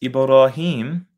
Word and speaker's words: Ibrahim: Though pronounced in Arabic as Ibrahim, Hisham and Ibn Zakwan, in one of his narrations, read it as Abraham.